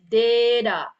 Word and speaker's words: data: to you guys that how some words in English oke when eh the for the the last syllables that's contain the t oke and then we gna read that as a da ya like here is oke instead of data oke the what you